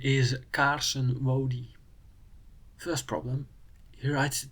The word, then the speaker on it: Carson: His name, however, is Carson. Or he's American, so Carson, not "kaarsen". To get the ah sound